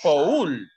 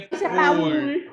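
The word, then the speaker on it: poule: ¿Verdad que no se dice Paul? No. No, se no, dice pool, ¿de acuerdo? Se dice pool. O sea, la O es como no existiera, ¿de acuerdo? Cuando encontremos la combinación O-U, se va a pronunciar U, como el sonido que nosotros conocemos.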